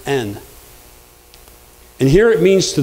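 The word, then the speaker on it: ἐν: very small it's a preposition spelled e en pronounced n and here it means to those that are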